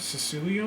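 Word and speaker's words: Cecilio: with the violin uh cecilia is that the brand cecilia i think that's it that's how you pronounce it cecilia um the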